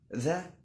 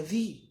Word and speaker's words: the: ال THE ليها نطقين اتنين، ممكن تقولها ذا وممكن تقولها ذي. ها والله العظيم هقول لك تقولها امتى ذي.